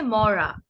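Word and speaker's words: মড়া: পরের শব্দটির ক্ষেত্রে যেহেতু এটি র, সেহেতু আমরা যে কাজটা করব, জিভটাকে খানিকটা ভাঁজ করে ভেতরের দিকে নিয়ে যাব। কিভাবে আমি গত ক্লাসে দেখিয়েছিলাম, একটু লক্ষ্য করবেন। র মানে মুখটাকে একটু জিভটাকে একটু মুখের ভেতরের দিকে নিয়ে উচ্চারণ করবেন।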